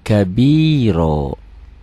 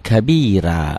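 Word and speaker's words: كبيرا: lihat pakai Latinnya ya Allahu akbar kabiro Ini ganti dengan Onya kabiro jangan allohu akbar kabira jangan ada yang salah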